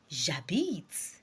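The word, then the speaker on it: j'habite: you want to say I live right now jabit try to say jabit jabit are I I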